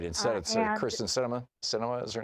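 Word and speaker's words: Sinema: right inside christmas cinema cinema is her name that's right cinema is pronounced like the cinema that's right I mean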